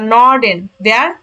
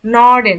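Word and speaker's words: Norden: north অর্থাৎ উত্তরকে উত্তরকে যার মানে বলা হয় নর্ডেন নর্ডেন দক্ষিণকে বলা হয় দেখেন এন একসাথে উচ্চারণ জুডেন পশ্চিমকে বলা হয় ভেস্টেন ভেস্টেন ভেস্টেন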